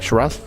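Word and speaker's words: Sheeraz: Shiraz?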